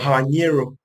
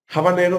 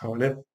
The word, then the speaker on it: habanero: Por ejemplo, en inglés, el término habanero peppers, es a veces pronunciado como habanero, pero esto pues, no es así.